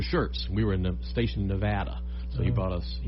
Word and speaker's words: Nevada: You know, most people say Nevada, you know, but if they say Nevada, they're from there or been there.